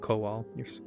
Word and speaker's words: Kowal: Is it Alvin Kohal or Kowal? We're pronouncing it Kowal, sir.